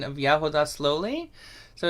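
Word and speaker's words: ягода: Yeah, and I saw in the chat someone asked for the pronunciation of yahoda slowly. So it's just yahoda is how you would say it.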